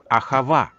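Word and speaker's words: אהבה: цитатой из еврейского писания где слово любить произносится как ахава однако иисус разговаривала обращался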